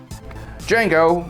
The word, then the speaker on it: Django: Django, with a silent D, Unchained, was a departure from the norm when it comes to films about the antebellum South focused on slavery.